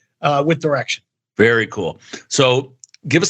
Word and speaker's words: Direxion: plus years ago at direction I called it direction also. So they liked me a lot and said if you're going to get the job you got to pronounce the firm name right.